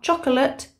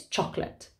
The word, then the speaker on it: chocolate: your name number two don't forget those silent letters okay so it's not chocolate it's chocolate number three learn the